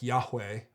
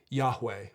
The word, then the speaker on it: Yahweh: name and we think the name might have been pronounced something like yahweh but it's not really